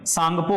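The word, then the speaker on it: Tsangpo: टी यहां पे silent है, ठीक है, एस से पहले टी जब भी आता है तो वो साइलेंट होता ही है, ठीक है।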